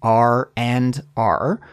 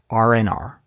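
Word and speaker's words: R&R: I said this expression the D sound in and isn't pronounced so we don't say r and r instead we smush it together and delete that D sound so it's just RNR RNR RNR okay it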